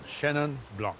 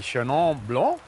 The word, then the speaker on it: Chenin Blanc: First things first, how do I pronounce Shenon Blanc? Am I pronouncing it correctly? You've got it down. You've got it down. Shannon Blanc. You could be more French, but that would be too accented. Perhaps we could be Sha Blanc.